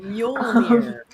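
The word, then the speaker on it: Mjölnir: Don't make me pronounce it because I know I'm going to get it wrong, even though it basically sounds like a cat meowing. Mjolnir.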